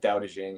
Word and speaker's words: Dao De Jing: doing readings from the dow jing um or however you want to pronounce it there's different pronunciations um people say ching but dao de jing is typically more typical so anywho i do